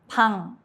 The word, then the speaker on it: 방: 이응 is silent when it starts a syllable, but at the end it sounds like NG. Example, 방, room.